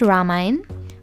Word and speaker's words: Ramayan: weddings, prayers or poojas, Ramayan pronounced "Ramine", and religious festivals such as Diwali, Eid and Phagwa.